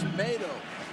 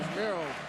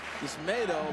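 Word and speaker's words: Yusmeiro: And Joe, his name is Yismato. We talked to him about it the other day. Everybody's been calling him Yismiro. It's Yismato, like tomato.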